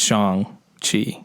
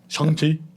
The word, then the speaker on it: Shang-Chi: actually have a scene where it's like it's pronounced shang chi yeah because his name is sean but we're